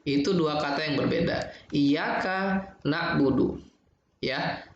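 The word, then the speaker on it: إِيَّاكَ: Iyyaka na'budu, ya, huruf K di kata iyyaka ya itu dibaca pendek. Nah, sementara karena kita masih berpikir tuh setelah kata iyyaka itu ada na'budu, jadi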